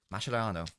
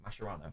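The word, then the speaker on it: Mascherano: Mashano. Don't know why I pronounced it like that. Masherano.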